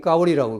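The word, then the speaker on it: 高麗: 그러니까 뭐냐면 중국에서 지금 까오리라고 그러거든요.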